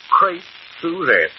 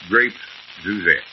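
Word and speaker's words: Crêpe Suzette: How do you pronounce that name again? Crepe Suzette. Grape Suzette.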